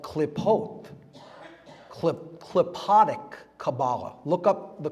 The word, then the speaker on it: Qlippoth: It's called klipot, klipotic Kabbalah. Look up the klipot. It's spelled Qlippoth.